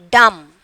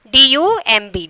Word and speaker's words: dumb: D-U-M-B. Dumb. Okay. In that, how you are pronouncing this word? Dumb. Dumb. Dumb only. Not dumb like that. Dumb. Okay. B is silent. Here the B is silent.